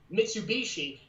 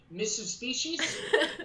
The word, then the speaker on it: Mitsubishi: name of her car which is which is mitsubishi and she pronounces every single time like mrs species and i'm like what and she says it